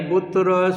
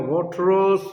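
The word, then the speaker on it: Boutros: सी विकल्प है बोट्रोस, बोट्रोस यानी बुतरस, बुतरस घाली हिंदी में, और इंग्लिश में अंग्रेज बोलेगा बोट्रोस, बोट्रोस घाली, ठीक है।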